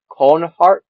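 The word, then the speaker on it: Konahrik: But at the same time, you have to use it to get this next one, which is pronounced cornhark. Conarch.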